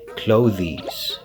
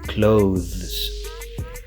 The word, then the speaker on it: clothes: your first language so you would have to use the th sound but the voice one